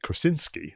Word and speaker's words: Krasinski: where the the director i'm gonna try and pronounce his name properly like john krasinski that's it was interviewed to even do a